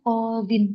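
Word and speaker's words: قاضٍ: Kalau misalnya ada al, dibaca al-qadhi. Tapi kalau nggak ada al, kita baca qadhin. Seperti itu. Nanti ketika dibaca nakiroh Qodin ketika dia apa tadi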